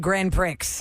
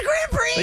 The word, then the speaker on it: Grand Prix: after our show and she said Grand Pricks and we were like what and we weren't on the in the cloud Under the Umbrella of the Ruland Ryan Show anymore and she's quick in her show we're like it's Grand Prix used to be a